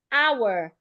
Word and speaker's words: hour: Also, some words like hour, H-O-U-R. In the word hour, the H is silent.